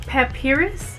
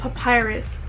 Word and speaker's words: Papyrus: a birthday card so they sent me that papirus papirus so google said that it's pronounced papyrus so they sent me the papyrus greeting card